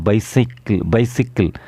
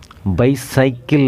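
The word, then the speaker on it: bicycle: He also road a பைசிக்கிள் அட் a young age. அவன் இளம் வயதிலேயே சைக்கிள் ஓட்டினான் அப்படிங்கிறது எப்படி ஆங்கிலத்தில் சொல்லலாம், he also road a பைசிக்கிள் அட் a young age. பைசைக்கிள் அப்படின்னு ப்ரொனவுன்ஸ் பண்ணக்கூடாது, பைசிக்கிள்.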